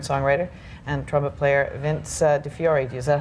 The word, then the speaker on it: DiFiore: I would say DiFiore. That's good then. We're right on the same track. Right. Those vowels are squirrely in Italian, though.